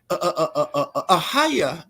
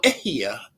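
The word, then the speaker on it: אהיה: You see, ahaya or ehia, more properly pronounced, because there's no word as ahaya, right? It's ehia.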